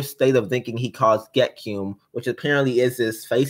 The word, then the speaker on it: Gekyume: Gekyum. Yep. Okay, so guys, I just watched the video. It says the word is pronounced Gekyum.